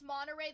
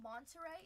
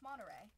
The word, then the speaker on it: Monterey: I saw this video saying that like Californians don't like to say the the T in words. It It's not Monterey. It's Monterey. Like when you say like Santa Cruz, it's not Santa Cruz. When you say it's another one like apparently we don't pronounce our pronounce our T's, which I mean I don't know.